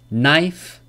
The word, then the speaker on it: knife: common silent letter so K is not pronounced when it comes before an N at the beginning of a word examples knife me know knock knowledge there's no K sound in these words and this is very